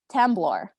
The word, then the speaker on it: temblor: Tembler. Are there any alternative pronunciations? Yes. Temblor.